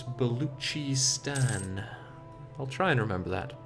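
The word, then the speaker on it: Baluchistan: uh somebody told me I keep pronouncing buan wrong I was told it's beluchi Stan I'll try and remember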